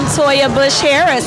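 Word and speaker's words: Toya Bush Harris: I am Soja Bush Harris, and that's spelled TOYABUSH, like the old president, and Harris, HARRIS.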